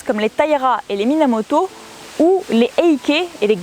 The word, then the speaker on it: Minamoto: Minamoto, ça s'écrit comme ça, mais ça c'est la prononciation japonaise, le kunyomi.